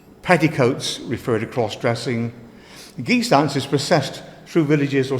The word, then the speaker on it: guise: sweetly sing sweetly um there's a reference to geese dancing here um it's spell guys and I pronounce it geese or guys but traditionally should be geese dancing it comes